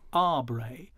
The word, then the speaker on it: Aubrey: where he says that really we should be pronouncing his name ah bray and then there's an